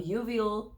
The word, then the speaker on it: uveal: or sclera, perforating with reposition and resection of uveal tissue.